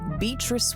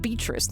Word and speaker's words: Beatrice: That finally brings us to Ananom aka Beatrice Watts. Her tales of guys parties and payoffs were true. Oh, I don't like it when you don't pronounce the A in Beatatrice.